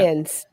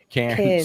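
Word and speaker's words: Cairns: Cans. Cans. Yeah. Yeah. And it sounds to us uh, you know, American types like cans, like cn nees, you know, in France.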